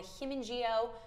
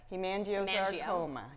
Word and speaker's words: hemangiosarcoma: Correct me if I'm saying it wrong, the Hemangioma Research Initiative. Hemangiosarcoma, yes.